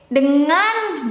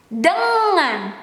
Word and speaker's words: dengan: Okay, I will put emphasis here, N and G. You pronounce it as if you can pronounce singing or crying or bang, bang, bang, bang, you can pronounce this dengan because the is there. So it is incorrect if you pronounce this as dengan, dengan, dengan. That's incorrect. Okay.